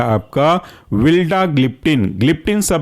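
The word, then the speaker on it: vildagliptin: दूसरा एग्जाम्पल है आपका विल्डाग्लिप्टिन, ग्लिप्टिन सब में कॉमन है तो इसको आप याद करने में बड़ा आसानी का फैक्टर मान सकते हैं। विल्डाग्लिप्टिन में पहला जो वर्ड है वह है विल्डा,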